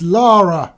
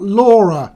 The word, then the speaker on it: Lara: Americans, her name is Lara, not Laura, okay?